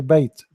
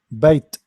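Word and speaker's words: بيت: So we say, let us say, we say bait. Look, bait, ta, ta, bait, bait. The ta is very clear here.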